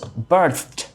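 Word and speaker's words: berthed: B E R T H E D. Birth. Okay. The British people they say that way.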